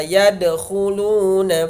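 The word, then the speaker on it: يدخلون: Wa ra'aitan nasa yadkhuluna fi dinillahi afwaja. Contoh qalqalah di ayat ini yang bergaris bawah. Yadkhuluna, memantulkan anak-anak.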